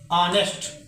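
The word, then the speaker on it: honest: यहां पर H silent है। साउंड हम लिख कर देख रहे हैं या बोल करके, तो कुछ भी इस प्रकार आ रहा है ऑनेस्ट, तो यहां पर हम एन भरेंगे।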